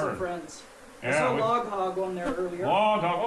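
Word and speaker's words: Log Hawg: Well, I would say anybody you wanna have a good time, head over to Log Hog TV on YouTube. Log Hog TV, and hog is spelled H-A-W-G, like hog.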